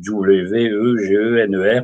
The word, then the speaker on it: Wegener: Là, c'est un allemand aussi, mais ça s'écrit W-E-G-E-N-E-R, Wegener.